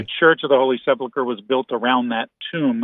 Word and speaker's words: Sepulchre: Is it Sepulchre? How do you say it? Sepulchre, Church of the Holy Sepulchre.